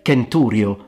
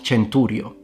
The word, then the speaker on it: centurio: And how do we know that the C in classical Latin was always pronounced like a K. So it's Ko, not Chichero, Kaisar, not Chesar, Kenturio, not Centurio.